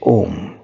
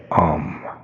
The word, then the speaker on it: Om: In yoga, you are instructed to leave your mind blank and say Om, which is spelled out A-U-M, Om.